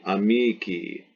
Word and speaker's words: amici: So if you look up a noun in the dictionary like amicus, masculine, friend, amicus, and then the genitive singular is an I pronounced E, amici, masculine, friend.